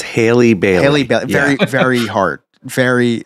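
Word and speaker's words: Halle Bailey: in this movie um I don't want to mispronounce her name because I always call her Hollyberry it's Haley Berry right Haley it's Haley biley Hile very very hard very like that she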